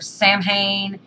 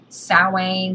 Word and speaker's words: Samhain: to 20 different witches they're going to pronounce sowing 20 different ways you're going to hear samhain salwain salwin sam hen it's all open to interpretation okay i mean it is you know i say sowing sometimes you'll catch me